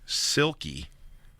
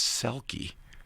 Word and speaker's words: selkie: Would you think it would be called, I thought she was telling me silky, but it's selkie.